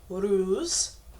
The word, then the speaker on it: Uruz: Phonetically, it's pronounced Uruz, and is the U or V of the alphabet.